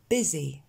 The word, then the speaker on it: busy: Busy. Alors celui-là, il est un petit peu particulier, ce U, on ne s'attend pas du tout à ce qu'il se prononce en « et ».